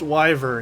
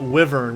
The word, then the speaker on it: wyvern: um but anyways yeah wyvern is pronounced wyvern it's not wyvern whenever someone says wyvern